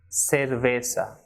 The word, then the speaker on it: cerveza: So the first one is sumo, Zaragoza and cerveza. So it should not be zumo, Zaragoza or cerveza, but sumo, Zaragoza y cerveza.